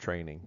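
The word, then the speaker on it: train-eng.com: at our website at train minus sign Eng comm pronounced training this is our CWI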